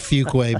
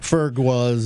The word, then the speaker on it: Fuqua: And I especially relish the idea of having my name pronounced correctly because I've had every manner of Fuqua being pronounced Ferguas and and and.